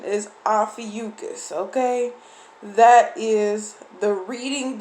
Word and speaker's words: Ophiuchus: Okay, so the pronunciation is Ophiuchus.